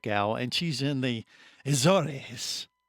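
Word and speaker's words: Azores: she's in the aoris did I say it right Katherine you did did I did yes good job points for you azors for us us folks but she told me right before they said isor and then you got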